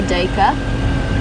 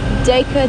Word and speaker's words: duiker: common or a grey duiker. And Ruth, in the UK, you've picked up on the fact that it's pronounced two different ways by different people. One is duiker, the other is duiker, and you were wondering why that is.